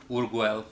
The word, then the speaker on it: urql: So it kind of makes a lot of decisions for you, but the way I just like to pronounce it is Urguel, so the beer, so it's easier for me to remember because the URQL.